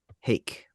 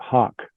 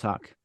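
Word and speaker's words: Haake: I'm pronouncing it right Thomas hake or Thomas Hackett from uh Meshuggah Mark and Chris thank you pronounce it Hawk Hawk Thomas Hawk Thomas Hawk I don't know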